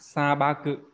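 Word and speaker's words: 砂漠: sa ba cự đúng không? Như vậy cái chữ mạc nó sẽ đọc là ba cự Ba đấy trong trường hợp này.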